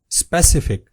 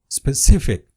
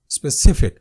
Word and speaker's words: specific: Majority of the people pronounce it as specific, but its correct pronunciation is specific. specific.